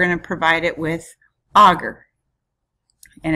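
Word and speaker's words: agar: on a sterile environment this is pronounced augur and we use a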